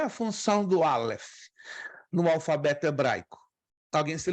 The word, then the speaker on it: Aleph: Ele é silencioso. Só quando tem as vogais, você pronuncia só as vogais. É uma consoante híbrida, silenciosa. Pode ter qualquer som, pode ter o som de A, de E, de I, de O e de U.